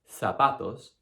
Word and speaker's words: zapatos: And in Spain, the Z is actually pronounced the exact same way. So it's pronounced th. So I never want to hear that English z buzzing sound. It doesn't exist in any regional variety of Spanish. So you're not going to say zapatos, azúcar, Ibiza. You're going to say zapatos, azúcar, and Ibiza.